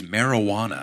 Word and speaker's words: marijuana: The only word in the English language with a silent h is marijuana. Happy 420 everybody. Uh right. So the reason is it comes from like a Mexican Spanish word marijuana that can either be spelled like that with an h or like maraguana I guess with a g.